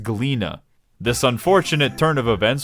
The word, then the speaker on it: Gleaners: Oh look, it's some gleaners. Jesus Christ, Alize, you can't just drop a hard R like that. It's pronounced Gleena.